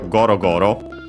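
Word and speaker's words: ゴロゴロ: But yeah, uh even more common than that uh there is the ontopia gorogoro like accent on the first syllable as per the rule.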